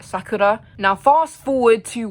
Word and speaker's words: Sakura: I also just realized I said Sakura like how Americans pronounced Sakura, like the restaurant. I'm pretty sure you say her name like Sakura.